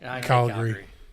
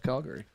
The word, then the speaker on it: Calgary: I said Calgary yeah you don't up Calgary calary Calgary fun fact I think it was a National Geographic way back when did an article on how you pronounce Calgary I know it's C and and the and